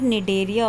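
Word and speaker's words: Cnidaria: Okay, so this is coelenterate, Coelenterata और निडेरिया also, इसमें सी आपका साइलेंट है।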